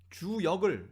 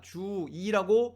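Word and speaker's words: 周易: 우리 조상들께서는 사서삼경 중에 한 권의 책인 주역을 우리가 주2라고 발음할 수 있는데도 불구하고, 그리고 중국 사람들도 주2라고 발음하는 걸 뻔히 아시면서 우리는 주역이라고 부르자 이렇게 결정하셨단 말이죠.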